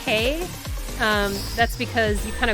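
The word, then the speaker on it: 北: is the the like the Chinese pronunciation is pay and this one is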